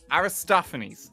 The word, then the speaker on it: Aristophanes: Greek comedy uh from Aristophanes well I I pronounce it right Aris Aris Aristophanes that's it thank you Aristophanes okay it's an